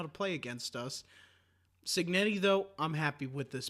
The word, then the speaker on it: Cignetti: coach Kurt and I won't even begin to pronounce his last Nettie Cignetti yes not that hard yeah that's not that